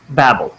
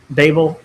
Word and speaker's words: Babel: us live in enter Babel or Babel I've heard it pronounced both ways so uh either one